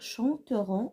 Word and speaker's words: chanteront: elle un troisième personne c'est à dire chanteront au lt se prononce de la même façon et écouter on attend